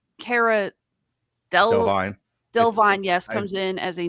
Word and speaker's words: Delevingne: We get, and thank you, by the way, for pronouncing her last name because I actually never get it right. Cara Delevingne. Delevingne, yes, comes in as a new character.